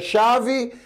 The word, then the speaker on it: chave: Veja, chave, eu tenho cinco letras, mas eu só quatro fonemas.